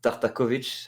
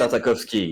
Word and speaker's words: Tartakovsky: How do you pronounce the dude names? It's Tartakovich, I think it's how you pronounce his name.